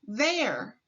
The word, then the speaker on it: there: The ERE in this word is the tricky part of the word. The ERE is pronounced er. When reading there, we pronounce the ERE as er. Say there.